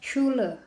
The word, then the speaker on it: Schule: Contohnya S sebelahan sama C sebelahan sama H. Nah itu dibacanya sh gitu. Contohnya Schule. Gitu guys.